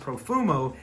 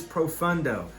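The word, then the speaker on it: Profondo: did not mispronounce that it is not profumo this is profundo profundo is an earthier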